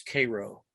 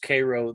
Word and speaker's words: Cairo: would want me to tell you that it's Cairo thank you for correcting that it is it is named after Cairo but it is pronounced Cairo there because it's Illinois right well it's something